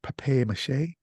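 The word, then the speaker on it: papier-mâché: And it's pronounced papier mache. Papier? Papier. Papier? It's French.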